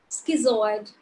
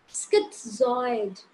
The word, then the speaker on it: schizoid: fourth line the borders we pronounce this word as schizoid if this is not schizoid a little bit of T sound is there this one is schizoid just like in schizophrenia just like in pizza a little bit of T song is there when you pronounce it clearly correctly schizoid personality disorder that's